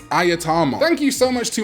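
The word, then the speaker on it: Ajatarmon: I mean, how many of you Digimon TCG players even know how to pronounce this guy? It's not Agitamon, it's Ayatamon.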